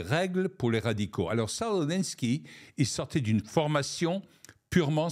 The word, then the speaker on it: Saul Alinsky: Il s'agit de Saul Alinsky, je le prononce à l'anglaise, en français ça donnerait Saul Alinsky, qui a écrit une